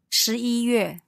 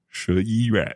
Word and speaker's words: 十一月: When you say that month altogether, do you stop in between each syllable or do you just run it all together? Together. How would you normally say November? 十一月. 十一月. Yeah, all together.